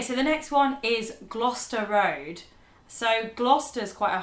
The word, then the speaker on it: Gloucester: Yeah, so it's the CES sound within Gloucester. It's just, you skip over it.